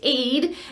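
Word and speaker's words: עד: you mash them together it does not spell Ed it spells Aid it's pronounced Aid and this is the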